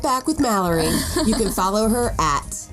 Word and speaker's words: Malerie: We're going to be right back with Mallory. You can follow her at Malerie. That's right. Spelled like Valerie with an M.